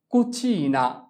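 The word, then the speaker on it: cucina: যেমন চি উ কু, চি ই চি। এখানে চি এরপর ই থাকলে তার উচ্চারণ হবে চ এর মতো, চি ই চি, এন আ না, কুচিনা।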